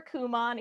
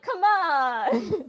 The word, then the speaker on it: Kumon: I was like, I have no idea how that's pronounced, and you thought it was like, come on.